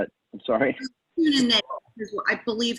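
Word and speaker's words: Kuehne+Nagel: How do you spell it? I'm sorry. Kuhn and Nagel is what I believe how you pronounce it. Kuhn and Nagel.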